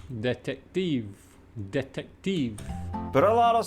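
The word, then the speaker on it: detektiv: know why that is it is difficult to mix the T sound together with the k sound in this case you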